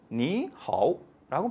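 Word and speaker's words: 你好: 너무 그러니까 요것을 물 흐르듯이 만들기 위해서, 부드럽게 만들기 위해서 앞에 삼성일 경우는 앞에 삼성을 이성으로 발음해 준다라는 하나의 규칙을 만든 거예요, 얘네들이. 그래서 니하오라고 발음해 줍니다. 자연스럽죠. 니하오.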